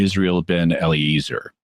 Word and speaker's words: Israel ben Eliezer: His actual name was, to pronounce it the English way, would be Israel ben Eliezer.